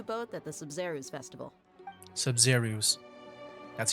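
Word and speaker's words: Sabzeruz: Sub-Zerus. That's how you pronounce it.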